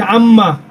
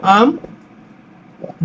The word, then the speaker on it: আম্মা: হলে ম ফলার উচ্চারণ ম ফলার উচ্চারণ বহাল থাকবে মানে উচ্চারণ হবে আর কি যদি এরকম লিখি আম্মা মর সাথে ম ফলা উচ্চারণটা বহাল থাকবে সরায়া ম আম ম আকার মা হসন্ত মকার